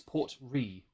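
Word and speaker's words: Port Ruighe: The spelling is Ruighe. I looked up the pronunciation on YouTube, on Google. It's Port Ree. It's the Gaelic thing.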